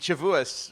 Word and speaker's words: Shavuos: And Shavuos rhymes with St. Louis, as a famous song once put it.